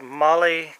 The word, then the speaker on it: MOLLE: Now, one thing I found out, it's called MOLLE compatible. That's spelled M-O-L-L-E.